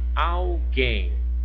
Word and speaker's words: alguém: Aqui em cima, a palavrinha alguém. Alguém. Olha, alguém, alguém. Eu tenho o que? Uma palavrinha de 2 sílabas e a sílaba mais forte é a última.